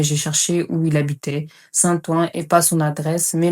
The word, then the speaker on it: Saint-Ouen: J'ai pas son numéro, mais à l'époque, il habitait bien à Saint-Ouen. Comment j'ai cherché, évidemment, via son nom de famille. On prononçait Saint-Ouen, mais c'était Saint-Ouen. C'est comme ça qu'on prononce.